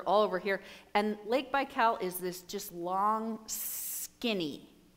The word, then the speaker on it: Baikal: the deepest lake in the world is Lake Baikal I think that's how you spell it or how you pronounce it b-a-i-k-a-l and